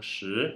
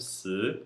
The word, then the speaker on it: 十: Então, por exemplo, às vezes o 10, que deveria ser pronunciado pelo mandarim padrão shi, vai ser pronunciado si, como se fosse SI no segundo tom.